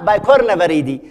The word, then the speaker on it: Picornaviridae: فهي متناهية في الصغر، وذاك سموها لأنها صغيرة جدا سموها بيكو وآر إن إيه، بس إحنا ننطقها نقول عليها بايكورنا فريدي، وهي أساسا بيكو وآر